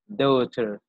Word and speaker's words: daughter: قلنا G وال H silent. G and H silent. أنا نطقهم. Daughter.